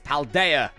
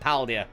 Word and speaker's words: Paldea: pronounce the region finally it's paldea not paldia but I will this